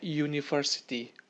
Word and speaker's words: university: Anda lihat di sini huruf awalnya U, namun ketika pada saat pengucapan, ketika dibaca, itu dibacanya university, huruf Y duluan, huruf mati duluan.